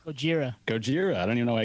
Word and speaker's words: Gojira: yellow is uh how do you say shogira gojira ojira gojira i don't even know why i can't say